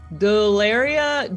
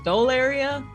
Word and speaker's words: Delaria: Delaria, definitely Delaria versus Dolaria, which sounds like Delaria.